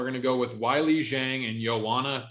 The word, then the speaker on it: Zhang: am I pronouncing it right? Yep. Zhang.